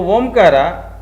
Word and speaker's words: Omkara: How to pronounce Omkar? So Omkara, that is Akara, you are supposed to do 3 counts.